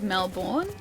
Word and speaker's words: Melbourne: Also kind of like how sometimes Melbourne is pronounced with like uh with a an emphasis on like born. So like Melbourne, you attacked my horse.